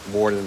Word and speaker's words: Worden: his middle name and Ward Warden like a it's funny uh like a prison Warden which is just funny